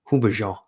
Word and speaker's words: Houbigant: So the first one, so I'm gonna really, I'm not be able to pronounce this. It's Hubigent Fougere Royale. Hubigent, Houbigant, Hubigent, or is it Hubigant? Hubigant.